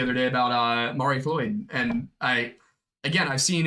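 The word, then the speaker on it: Mari Lwyd: So I was pronouncing it Lloyd. Apparently it's the soft L.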